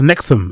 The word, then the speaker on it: NXIVM: Oh, it's pronounced Nexum. Is it pronounced Nexum?